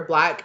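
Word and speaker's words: 6lack: So the song that it was Black Problems, and it's the artist where the B for black is the number 6. But it's pronounced black.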